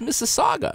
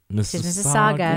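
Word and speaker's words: Mississauga: looked at the map I said that's Miss Saga that's right there's no U at the end it's just an i that's right no Miss Saga Miss Saga Saga Toby got in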